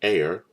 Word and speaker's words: are: metric units it's the air a-r-e this this is pronounced air like the air that you breathe then hectare and square